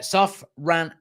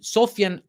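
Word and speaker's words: Sofyan: about this guy uh soft run am I can never pronounce his first name soft sophian amrobat sorry there we go Sofia so basically Manchester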